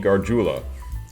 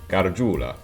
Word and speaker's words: Gargiula: White Stripes, featuring Anthony Gargiula, I believe is, well, that's how you would spell it if he goes by the Italian pronunciation, Gargiula. So I don't know if